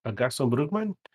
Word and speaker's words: Gaston Brugman: Ooh, Gaston Brugman?